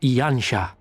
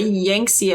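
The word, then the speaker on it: Yanxia: Doma, meanwhile, is here on the eastern coast of Otherd in Yansha. That's how that's pronounced. I always called it Yangtze. I guess Yansha makes more sense.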